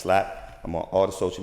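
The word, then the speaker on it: SILAP: succeeding in life after the acronym is spelled s i l a p but it's pronounced slap I'm on all the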